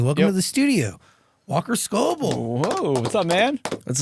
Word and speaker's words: Scobell: on anybody is like the right way to pronounce their name, obviously. But it is Scobell. It is Scobell, yeah.